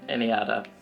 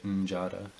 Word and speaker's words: NJada: please give a warm welcome to my guest anada enjoy anada I believe that's that's how you uh pronounce your name right that's right yeah because